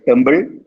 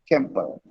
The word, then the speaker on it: temple: challenge me any word should always be temple temple did i say tumble no temple so write it down